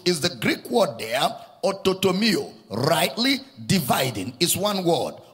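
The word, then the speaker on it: orthotomeo: Rightly dividing the word of truth is the Greek word there, ototomio. Rightly dividing is one word, ototomio. It's spelled as O-R-T-H-O-T-O-M-E-O, ototomio.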